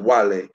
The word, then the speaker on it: Guale: It is actually spelled Wale, but it's pronounced Wale.